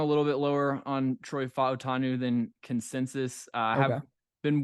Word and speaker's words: Fautanu: You're going to have to help me pronounce this again. Is it Fautanu?